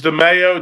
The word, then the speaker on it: DeMaio: DeMaio. Did I pronounce that right? Close enough as DeMaio. DeMaio, you say tomato, I say tomato.